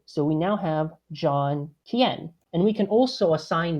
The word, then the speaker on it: Quien: my last name so my last name is kien which is kind of weird to look at it which is like you know it's weirdly pronounced that way it's spanish so um what we